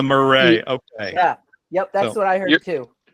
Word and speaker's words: Murray: No, that's putting more of an accent on the Mur-RAY. Then the Mur-RAY.